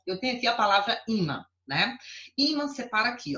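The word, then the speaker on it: ímã: Olha só, eu tenho aqui a palavra imã, né? Imã separa aqui, ó. Se fosse para eu separar, seria aqui. Imã, imã. É assim? Imã, imã, imã. É. Então, qual é a sílaba tônica?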